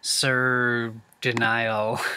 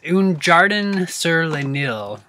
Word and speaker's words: Un Jardin sur le Nil: Series scents, and I think it's the it's the one that's based on the Nile, Sir Denial. I'm sorry that I'm pronouncing that so terribly. It's Un Jardin sur le Nil, and basically it means the Garden of the Nile.